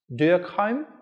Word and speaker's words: Durkheim: Some say his name should be pronounced Durkheim.